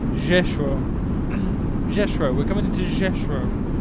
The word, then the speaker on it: Rzeszów: In Polish, it is said as Rzeszów.